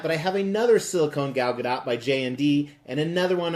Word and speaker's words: Gal Gadot: late night hosts and she said the t is pronounced so I'm gonna trust the person who owns the name a little bit more than a random Youtube comments so I say Gal Gadot however I'm very excited